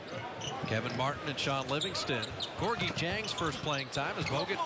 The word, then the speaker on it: Gorgui Dieng: Gorgui Dieng. It's spelled with a D. It's pronounced with a J.